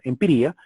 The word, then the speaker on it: empiría: La palabra empiría viene del griego, que se pronuncia igual, empiría, y significa pues aquello